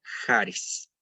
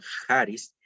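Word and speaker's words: χάρις: como r sale una y una es se pronuncia haris la palabra y jaris y sus derivados se corresponden bastante bien con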